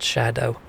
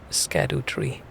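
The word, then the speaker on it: Scadutree: said by the way this is pronounced Shadow otherwise I would have gone the entire play through seriously saying saying scad tree them trying to fool me with their spelling yeah it's um it's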